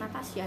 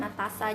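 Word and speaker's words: Natassa: Jadi ini buku dari Ikan Natasa yang judulnya ikan Natasa atau Ikan Natasha itu bacanya ikan Natasa aja ya.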